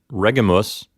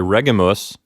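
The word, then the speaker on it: regimus: long it's short so we're not going to say Regulus we're going to say regum us and because the letter i' is short there the accent moves back one syllable to reg the first syllable so we get regum us not Regulus okay so this is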